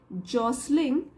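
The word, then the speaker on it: jostling: लोट of gloss लिंग ये T silent है जॉसलिंग और कन्फ्यूजन और जो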